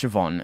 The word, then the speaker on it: Siobhan: for me to always remember that siobhan is pronounced siobhan and not whatever other thing i might think